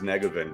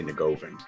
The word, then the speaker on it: Negovan: Like, his proper pronunciation is Negovan, but as an American, two generations in, we say Negovan, but yes.